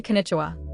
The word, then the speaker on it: こんにちは: The final ha is read as wah, not ha.